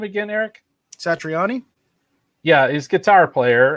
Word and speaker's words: Satriani: Satriani.